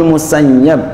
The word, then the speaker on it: Musayyab: Sami'tul Musayyab. Nah, ini bacanya Musayyab. Kalau Abu Sa'id itu Musayyib. Itu ada Musayyib, Musayyab. Dua pendapat kalau ya Abu Sa'id Musayyib ya, Al-Musayyib. Kalau ini ya Musayyab.